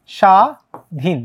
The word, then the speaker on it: স্বাধীন: যেমন আমরা যদি বলি ব ফালাও যদি শব্দের শুরুতে থাকে সেটার উচ্চারণ কিন্তু হয় না ঠিক আছে ব ফালাও শুরুতে থাকলে সেটার উচ্চারণ হয় না যেমন আমরা যদি দেখি স্বাধীন স্বাধীন এটার উচ্চারণটা কিরকম স্বাধীন স্বাধীন না কিন্তু স্বাধীন ঠিক আছে কিন্তু তোমার